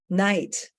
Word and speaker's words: knight: Night with a K. Actually, yes, they used to pronounce it knight and now they pronounce it night.